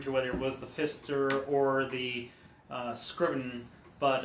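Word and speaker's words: Pfister: places up online uh Fister is actually spelled with a silent p on the front so it's p f i s t e r hotel and it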